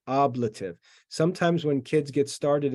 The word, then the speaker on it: ablative: case is called the oblative oblative and it's pronounced oblative sometimes when kids get started in Latin they say ablative it's not ablated it's oblative that's how you